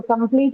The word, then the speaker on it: complete: So complete again has two syllables come and plead. Extreme has x and three right two syllables. So dilic in this case also instead of marking the stress on the first syllable as per the rule we have marked it on the second syllable because the second syllable carries a long vowel complete right pleet has a long vowel.